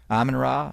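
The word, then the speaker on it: Amon-Ra: David Bowie's wife Aman it's Aman ra not amanra it's a hard name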